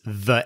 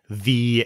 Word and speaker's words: the: C minus paper uh he says the end with a short e vowel whenever a vowel comes after the word the the E vowel should be long not short so he should have said the end instead of the end well that's [